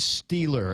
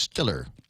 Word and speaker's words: Steeler: at with him and said stealer and and Nick is trying to correct you and saying we're in Pittsburgh it would be pronounced Stiller so as in the